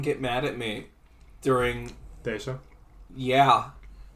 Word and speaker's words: Thassa: Desa. Yeah. It should be pronounced Greek, so it's Thesa. Cool. You can be that guy. I'm just going to say Thassa because it's easier and sounds equally as Greek.